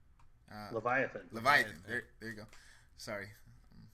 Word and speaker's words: Leviathan: uh so the next one is the uh levithan Leviathan Leviathan there there you go sorry my biblical pronunciation is not uh up to standard um